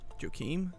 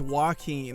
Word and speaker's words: Joaquin: last name is fenix what's his first name joakim how do you say his name i forgot i'm not gonna listen to a youtube on how to say his name oh it's joaquin that makes so much more sense it's like